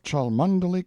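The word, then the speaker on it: Cholmondeley: sellers vicount Berkeley of chundy Castle Warwickshire pronounced cbri Slover Marshbank sellers vicount Barkley of chumbley Castle warshire he is standing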